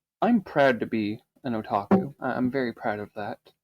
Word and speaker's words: Otaku: Am I pronouncing that correctly? Yes. Otaku.